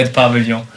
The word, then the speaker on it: At Pavillon: No, I would say At Pavillon. Like a mixture of English and French.